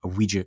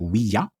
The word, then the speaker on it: Ouija: So you have the French oui, and you have the German ja. So like Ouija.